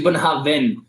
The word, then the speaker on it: Bunnahabhain: It's actually Bunnahabhain, because like the V is supposed to sound like a V at the end.